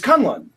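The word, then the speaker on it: K'un-Lun: The Mystical City in Iron Fist, I have always pronounced Kunlun. Yeah. Because of the way it's spelled, the U's wouldn't be pronounced the same way. So it reads to me as Kunlun. It's Kunlun in the new show.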